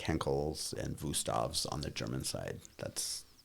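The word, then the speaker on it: Wüsthof: are like Henkel's and Wustavs on the German side. That's, when you're in high-end culinary, that's where you go. Wustavs are or Wustavs, the German pronunciation is Wustavs.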